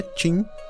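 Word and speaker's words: Qin: Ali o território era chamado de Joan W, mas foi a força da dinastia Q, que se pronuncia Tin, que atravessou fronteiras.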